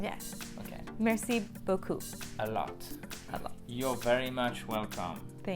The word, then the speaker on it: beaucoup: So beaucoup is like this. So you have a Perfect. P that you do not pronounce the P. I think you know this one, right? Yes. Okay. Merci beaucoup.